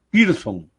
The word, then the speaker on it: Pearson: Ellos no dicen Pearson. Cuando escriben la palabra Pearson, ellos dicen Pearson, como que si fuera una I. La E y la A la hacen I.